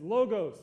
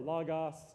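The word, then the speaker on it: λόγος: a lot so get used to that it's logos you've heard that before Lagos is really how it should be pronounced logos the word what they have translated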